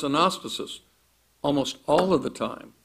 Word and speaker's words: anastasis: In fact, if you look at the Greek word resurrection, in Greek pronounced anastasis, almost all of the time it does refer to a physical resurrection.